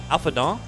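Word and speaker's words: Alphinaud: The trick to the Ellison is you have to do the French thing where you leave off the last consonant. And then you don't have to pronounce as much. So it's kind of like a shortcut.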